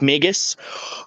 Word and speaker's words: Magus: brief overview of uh of mages yeah it's pronounced magus um however magus is as a service so